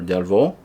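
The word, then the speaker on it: Delvaux: It's French. Uh Delvo, Delvo, Delvo or Delvo is how you pronounce that.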